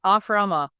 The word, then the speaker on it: Ashrama: Phonetically, let's get this right. Ashrama.